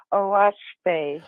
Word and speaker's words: Oahspe: It's spelled OAHSPE, and it's pronounced OASPE. OASPE.